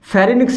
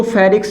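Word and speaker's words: pharynx: फेरिनिक्स से क्या होता है दोस्तों? इसको फेरिक्स भी कह देते हैं, फेरिनिक्स भी कहते हैं, एन साइलेंट भी कर देते हैं, फेरिक्स, ठीक है।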